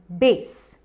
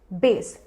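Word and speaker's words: bass: अगला वर्ड है बेस, बेस। Music terminology है, म्यूजिक से रिलेटेड है। बेस स्पेलिंग के हिसाब से बास है, पर वो गलत है, आप कहिए बेस।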